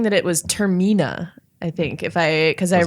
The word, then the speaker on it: Termina: I think it is Termina.